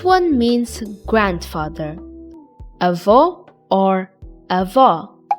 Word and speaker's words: avó: Avô or avó?